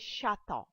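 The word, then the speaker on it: château: 21st CH is sh it is shata. Now as I said earlier ch sounds like sh and remember one thing in the previous slide I've told you that e a u e sounds like o or like water e a u sounds like water. So here we have shata 22nd g before e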